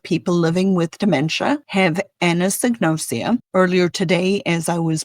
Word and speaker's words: anosognosia: There is a thing, a condition, a medical term called anosognosia. And I'm going to spell it for the people who are nerds like me. Ana, A-N-A, sognosia, S-O-G-N-O-S-I-A, anosognosia, which literally means the unawareness of one's own illness, symptoms, or impairments.